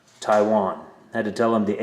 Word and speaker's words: Taiwan: my five-year-old who's learning to read try to pronounce Taiwan had to tell them the a is silent